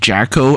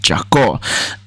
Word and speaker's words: Jako: I was pronouncing it Jacko earlier, but one of my friends, Fia from earlier, she's actually ethnically Armenian, and she told me that the song title is actually pronounced Jako.